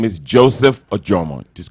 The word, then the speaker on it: Ojomo: My Instagram name is Joseph Ojomo. Just call my name. You'll see my Joseph Ojomo. So it's pronounced Ojomo.